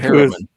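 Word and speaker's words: Herriman: Damon Harryman, I guess. You tell me how to pronounce that. It was Harriman.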